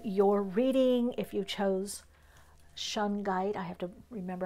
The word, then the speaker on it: shungite: reading if you chose shungite I have to remember how to pronounce I used to call it Shug knite hey Suge you got